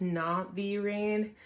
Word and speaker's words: Navi Rain: Her name is pronounced Navi Rain. I know a lot of people have been asking me if her name is Navy or Navi or just like weird stuff like that, but no, her name is Navi.